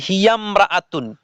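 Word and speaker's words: هي امرأة: যে লেখা আছে দেখেন ইমরাতুন শব্দের আগে অন্য শব্দ হলে আলিফটি শুধু লেখায় আসে উচ্চারণে আসে না বুঝাতে পেরেছি যেমন দেখেন হিয়ামরাতুন উচ্চারণ হবে হিয়াম রাতুন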